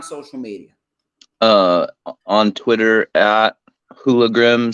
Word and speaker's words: HooliGrim: On Twitter at HooliGrim, spelled WHO, like who are you? Because people seem to not know how to pronounce it right away.